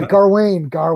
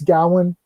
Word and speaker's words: Gawain: Like, where's the R from? Yeah, Garwain. He's British, it's like Godzilla. Garwin sit next to me. It's like it's Gowan, dude.